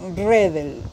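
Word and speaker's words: Redl: En realidad se pronuncia Redel. Coronel Redel, pero no tiene la segunda E.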